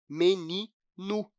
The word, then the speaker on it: menino: no dia a dia, vai ver que é muito comum a gente diminuir a força, a intensidade da última sílaba. Então, a gente acaba não pronunciando "menino", mas sim "meninu".